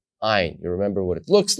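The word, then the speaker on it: עין: Ayin. Now this letter is interesting because it also stays silent.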